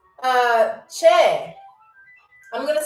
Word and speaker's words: che: CHE exclamation point. Che. I'm going to see if I can write it backwards for y'all. CH. That's what it looks like. Che, or not que, but che.